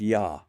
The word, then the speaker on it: Yah: One inscription dated to the time of Pharaoh Aman Hoteep III circa 14th century B.CE refers to the Shassu of Yah pronounced Ya.